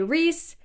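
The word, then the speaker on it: Rhys: have correct way to spell Reese I say Reese and reand I used to say rice and but then it occurred to me that rice makes a lot less sense than Reese also Sarah J Mass says it reand as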